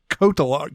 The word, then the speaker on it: Cotillard: Murphy it's a Marion Cotillard Kotal RTR Cotillard yeah Marion Cotillard yeah you have to hit that like take those elves and just not pronounce them for what yeah I